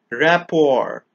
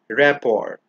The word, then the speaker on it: rapport: chewing gum Pizza mayonnaise rapport remember the letter T is silent in this word the letter R is not rapport this word is pronounced